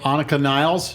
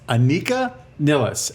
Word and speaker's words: Anika Nilles: Anika Nilles. Anika? and IKEA. She works at IKEA? Niles. I heard Rick Beato say Annika Niles. No, it's Anika Nilles.